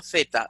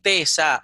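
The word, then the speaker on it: θῆτα: los aeis y que la teta se pronuncia zeta, c. No puede decir tesa, porque la T sería como si aquí en vez de una teta hubiese en el griego una tau.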